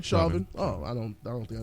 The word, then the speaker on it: Chauvin: How you pronounce his name? Chauvin.